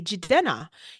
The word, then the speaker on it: Jidena: I want people to learn how to say Jidena.